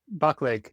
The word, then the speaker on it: Baclig: And today's guest and I'm probably going to get your last name wrong. I'm sorry. Antonio Bach. Bachle. Yeah. Bachleg of Inlight Energy.